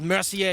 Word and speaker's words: Mercier: It's pronounced Mercier, you punk.